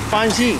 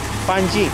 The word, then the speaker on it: Panjim: Which was spelled as P-A-N-G-I-M but pronounced as Panji. Panji.